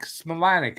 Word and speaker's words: Smilanic: Smilanic is how it's pronounced.